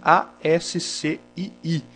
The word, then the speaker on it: ASCII: Se escreve A-S-C-I-I, mas se pronuncia ASCII.